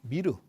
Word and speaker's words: 미르: 미륵의 우리식, 용의 우리식 발음이 미르라고. 미르.